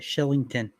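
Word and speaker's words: Kylington: Sean dery Oliver Killington Shillington where is the c a CH in that that's how they say it Shillington goodness gracious Carter Hart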